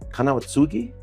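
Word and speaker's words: 金輪継ぎ: Is it Kanawatsugi? Am I saying it correctly? Yeah. Okay, I did good there.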